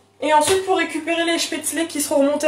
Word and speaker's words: Spätzle: Alors, on va faire un petit cours de prononciation, très bien vu. Donc les spätzle.